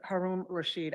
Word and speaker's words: Haroon Rashid: Haroon Rashid. I don't believe Mr. Rashid is on Zoom. I didn't Correct. complete the name. Right, it's Haroon Rashid. I said it wrong.